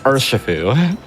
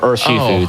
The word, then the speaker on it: Urshifu: It is Urshifu. Or Urshifu, depending on your pronunciation.